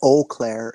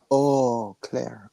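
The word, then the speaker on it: Eau Claire: It's not Oclair, it's Oclair.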